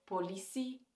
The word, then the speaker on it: politie: Een ander voorbeeld in uitspraak is de TIE op het einde van een woord. Bijvoorbeeld politie, ambitie, relatie. Wanneer ik deze woorden uitspreek, hoor je een si-klank. Geen ti-klank of geen tsi-klank.